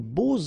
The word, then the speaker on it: beaux: And here it's quite interesting because even if you've got this X, well, phonetically it will be like Z, so like if it would be an S, okay?